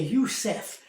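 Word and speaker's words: Yosef: C'est Youssef. Ça se prononce comme en anglais Youssef, ce qui signifie que l'Éternel ajoute ou il enlève, comme nous avons vu dans nos versets d'introduction.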